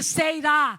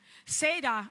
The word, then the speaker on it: Seerá: Seirá. Eu pensei que é igual Ceará.